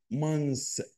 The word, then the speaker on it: months: طب الجمع بقى الشهور اسمها months، ما بطلعش لساني بقى months. مانس تي اتش ما تنطقتش، يبقى لما اقول شهر واحد اقول امانث امانث، أمان لكن شهور مانس مانس.